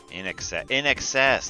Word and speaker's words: INXS: In excess. That's how you pronounce that.